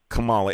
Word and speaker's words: Kamala: Biden and Kamala, it's Kamala, by the way, just to correctly say her name, are a lot less worse?